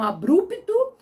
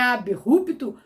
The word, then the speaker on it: abrupto: vídeo eu falei sobre abirrupto que pronunciam abrupto e é abirrupto alguns colocaram assim por